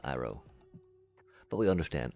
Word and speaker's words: Iro: And I I know I know I said eero. Sorry. Sorry. Phonetically phonetically if we're thinking about the Eastern Asian type of cultures where this was, you know, where Avatar gained a lot of inspiration from, right? Definitely uh Roa Iro, but we understand Iro,